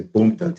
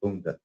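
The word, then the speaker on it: Boondi: Tisha will call me, but a lot of them say it wrong. They'll say boom. Yeah. It's B O O N D I Bunda.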